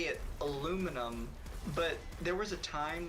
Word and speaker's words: aluminum: My life was changed when I found out aluminum, how American pronounce it, is correct, and how the discoverer wanted it.